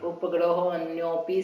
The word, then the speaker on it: उपग्रहोऽन्योऽपि: तो वह अ जो है ना साइलेंट कहते हैं, इसलिए उपग्रहो अन्योपि संयमिनाम ऐसा पढ़ा जाता है।